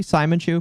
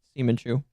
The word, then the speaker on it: Simon Chu: Technically, it's supposed to be Simon Chu, but it's pronounced Seaman Chu.